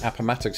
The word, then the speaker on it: Appomattox: a daily so suppose the correct pronunciation is Appomattox it's a word not dissimilar in many ways to Potomac in the way it trips me up you expect the emphasis to be on a different vowel sound and it just